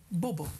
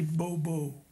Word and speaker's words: Bobo: they call you bbo you pronounce it's very beautiful Bobble bbba bobble it it sounds more gentle then in the Dutch language when you say Bobo Bobo yes Bobo well a